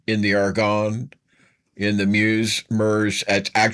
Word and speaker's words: Meuse: The American infantry in the Argonne, in the Meuse, it's pronounced Meuse, it's M-E-U-S-E, but it's pronounced Meuse.